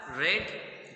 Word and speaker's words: read: I have रेड the book. देखिए मैंने क्या प्रोनाउंस किया, रेड। लिखा हुआ है READ, रीड।